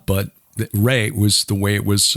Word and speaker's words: Re: set yeah most of us have heard of raw but Ray was the way it was uh pronounced in ancient Egypt yes he was a